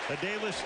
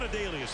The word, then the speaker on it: Adalius: Thomas took the extra syllable out of his name. He's now emerging, and he finally went to the Ravens PR guys. He said, I'm not Adalius anymore. I'm Adalius Thomas.